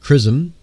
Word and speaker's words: XRISM: evolution of the Universe X r i s m pronounced chrism will help experts understand